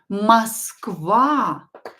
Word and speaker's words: Москва: Москва. Москва. The correct way to pronounce it is with A instead of O here, and the stress on the second syllable. Москва is Moscow.